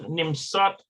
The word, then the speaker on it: נמצאת: Annette nimsaet Sham. Yep. Yeah. ענת נמצאת שם. Yeah. Annette nimsat Sham.